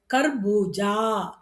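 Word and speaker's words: घर: க, க, க, கா. அப்ப இங்க எப்படி உச்சரிக்கணும்? கர். அதே கா தான். ஆனா உச்சரிக்கும்போது கர். கர்னா என்ன?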